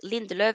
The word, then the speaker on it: Lindelöf: Right, so Sofia, love the way you pronounce Lindelöf in your Norwegian accent.